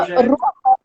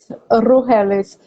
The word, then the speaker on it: Rugeles: Se fala Rugeles. Rugeles, mas estamos no Brasil, é Rugeles.